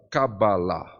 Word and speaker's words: Cabala: né primeiro em hebraico o correto de se falar é cabala cabala né então ela é uma palavra oxítona o acento na última sílaba tá Porém na maioria